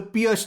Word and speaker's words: Pirc: After e4, the move I want to recommend is d6, the Pirc Defence. Some people also pronounce this as the Pirc Defence.